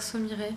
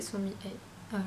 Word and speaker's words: Somi Hye: J'avais tendance à dire Somire, mais non, c'est Somi Hye.